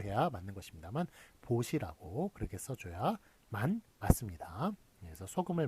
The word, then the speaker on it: 보시: 제가 이렇게 마이크를 대고 얘기를 하기 때문에 좀 발음이 발음을 또 잘못 또 전달이 되는 경우도 있어서 다시 한번 정확하게 얘기하면 포시가 아니라 보시가 맞습니다.